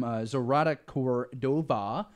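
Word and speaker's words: Zoraida Córdova: keep going here and this one is from zarada Cordova is how you say the name and author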